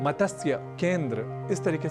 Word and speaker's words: मत्स्य: अक्सर हम इस शब्द का गलत उच्चारण कर बैठते हैं और कहते हैं मतस्य, मतस्य, पालन, इस तरीके से कुछ हम शब्द करते हैं। मत्स्य, केंद्र, इस तरीके से कई अशुद्ध उच्चारण हम